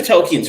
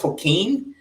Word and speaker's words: Tolkien: me very much of Tolkien's writing. So I'm going to pronounce it wrong. I think it's Tolkien, but I pronounce it Tolkien.